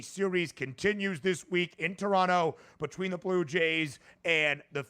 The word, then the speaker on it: Toronto: North of the border, they say Toronto, Ben. Toronto. How about that? So let's get on board and pronunciate it correctly here, as we love pronunciation. Never hit the second T, DRS. Never hit the second T. Toronto. That's what we like to say. Toronto. Tron. T-R-O-N. Toronto. Just leave it out at this point.